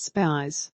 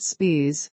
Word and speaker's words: Speirs: for spelling his name it is spelt spies not spears as in britney spears nor i before he spies and no he does nt host abcs insiders programme on sunday morning that is david spears mr spy says he